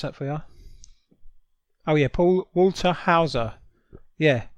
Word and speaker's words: Paul Walter Hauser: a fat drunk KKK member yeah his name's Paul Walter Hall sir yeah I pronounce that for you oh yeah Paul Walter Hauser Yeah right he was you know how I